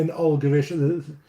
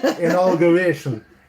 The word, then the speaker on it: inauguration: Inauguration. There's no L's in it. Inauguration.